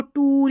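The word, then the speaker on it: tour: और टूअर जो है इसको टूर या टूअर करके प्रोनाउंस कर देते हैं।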